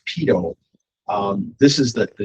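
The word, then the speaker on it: pitot: should it's it's pronounced pedo um this is the the name right here you'll see it's it's not Pat or something like that it's called Pito it's a French term so um but again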